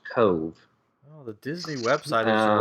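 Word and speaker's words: Cobh: in Ireland and apparently in Irish language they don't have a v so it's c o BH but it's pronounced Cove oh the Disney website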